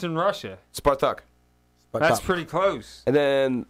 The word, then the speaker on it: Spartak: So, and then my team, how's it pronounced in Russia? Spartak.